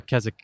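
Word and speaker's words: Keswick: it all came together Kazakh it's spelled ke s WI CK the W is silent it's a place in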